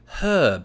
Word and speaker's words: herb: so let's take the the traditional American pronunciation of the word herb right they they take off the H and that's because historically we all did in the english-speaking world the word herb was well it came